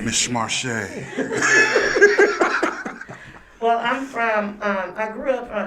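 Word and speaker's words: Marche': Marshay. Okay. You got to say her name like that now. You know, Marshay. Miss Marshay.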